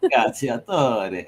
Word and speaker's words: Cacciatore: Cacciatore. And I love it. We gotta pronounce it right.